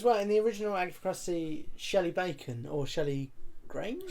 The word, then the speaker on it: Crusty: It's pronounced Crusty.